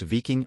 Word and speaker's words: Wiking: and vas BV 222 wiking pronounced Ving was a large six-engine